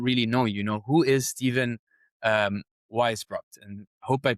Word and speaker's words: Weisbrot: But for the audience who don't really know who is Steven Weisbrot? And hope I'm pronouncing that well as well.